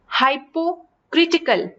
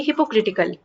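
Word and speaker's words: hypocritical: हाइपोक्रिटिकल या फिर हिपोक्रिटिकल, इसकी प्रोनाउंसिएशन हो जाएगी हिपोक्रिटिकल।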